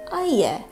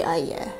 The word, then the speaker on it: AIYE: I may be saying that wrong, but that's how it's spelled, and the kanji is I, and in Japanese that would be ya, but it's spelled Y-E, so I'm gonna say AIYE. AIYE?